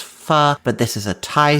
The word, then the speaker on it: pho: pronounce the Vietnamese soup that's spelled pho they pronounce it fo but it's supposed to be pronounced fu but this is a Thai soup and so I'm putting fo before it.